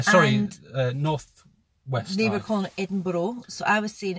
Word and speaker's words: Edinburgh: North West Libra corner Edinboro so I was seeing it's called Eden as in your bra exactly hidden bar but